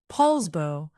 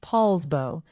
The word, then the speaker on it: Poulsbo: Poulsbo, pronounced Poulsbo, sits on Liberty Bay in Kitsap County and it is the smallest of the four cities in Kitsap County.